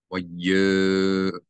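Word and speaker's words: Vayomeru: This O vowel, Harlam, it is coming from the Yud. So you're going to not pronounce the Aleph as a glottal stop. You read this as if the Aleph is not there. So that this Mem and this Yud are actually in the same syllable. In English, we would write it Y-O-M. Y-O-M-E-R-U.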